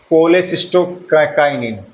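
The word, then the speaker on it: cholecystokinin: एक तो है मेरे दोस्तों कोलेसिस्टोकाइनिन। कोलेसिस्टो बायोलॉजी में दोस्तों नाम और स्पेलिंग ही रटनी होती है।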